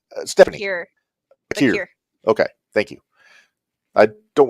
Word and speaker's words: Vaquer: I always get her name wrong. Stephanie. Bakir.